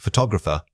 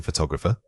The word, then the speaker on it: photographer: The word is photographer. Say it again, photographer. This word is much longer and the emphasis falls midway through. We want to make sure your voice naturally rises in pitch right before that stressed middle section.